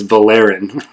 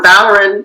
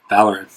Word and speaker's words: Valoran: So Valoran, the second syllable is AR, so that's a short syllable, which means the stress goes on the first syllable. Got it. Okay. Valoran.